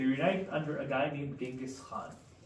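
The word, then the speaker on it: Genghis Khan: Probably not called Genghaskhan. He's probably closer to the pronunciation be Chinjisan. Um, but white people rewrite history. I don't know what else to say, but like it's Latinized um to be called Genghaskhan.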